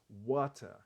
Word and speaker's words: water: ele não tinha dito water Como eu pronuncio como os americanos pronuncia ele disse watter What que é a pronúncia britânica os britânicos normalmente não pronunciam os erres no final das palavras às vezes nem mesmo